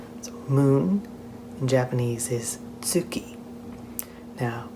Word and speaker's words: tsuki: Now, be careful because that T at the beginning isn't silent. You can practice the sound tsu by saying the word it's and adding an oo sound at the end of it.